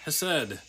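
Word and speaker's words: chesed: of the Hebrew word has said one of the Hebrew words for Love Is hased uh that's how you spell it in Hebrew and pronounced has said which is actually a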